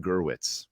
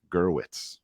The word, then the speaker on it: Gurwitz: i was reading and i said the author's name wrong it's brian gurwitz gurwitz okay so just just want